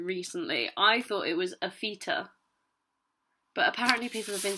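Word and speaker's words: AFitA: Aphita, surely. I mean, it is literally capital A, then the word fit, then a capital A.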